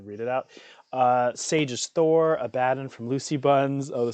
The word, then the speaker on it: Abaddon: Sage's Thor, Abaddon from Lucy Buns.